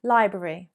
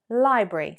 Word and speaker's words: library: Technically, correct pronunciation, library, library, library. But often you will hear people say library, library. Two syllables, library or library.